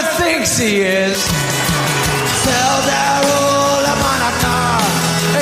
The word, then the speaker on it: Hanukkah: Tell Darul Hanukkah, it's time to celebrate Hanukkah. It's not pronounced Chanukah. The C is silent.